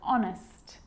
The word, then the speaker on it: honest: And sometimes it's not pronounced at the start of a word, like honest and hour.